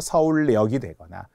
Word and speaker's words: 서울역: 염증 아프죠 병원에 가야 되는이 염증과 관련될 때 발음도 니은 첨 가요 뭐 서울역이 그지 서울역 니은 첨가 후 유화가 되어 서울역이 되거 이런 니은 첨가된 사례들도 시험에 정말 잘 나옵니다